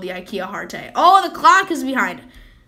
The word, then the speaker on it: Hearte: Hearte rhymes with parte.